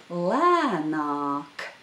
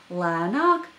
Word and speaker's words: lēnāk: The second vowel is the long vowel a, so notice the difference between these 2 vowels, a and a lēnāk. Lēnāk means slower.